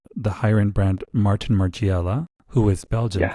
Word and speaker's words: Margiela: was known as the higher end brand Martin Margiela, who is Belgian, Yeah.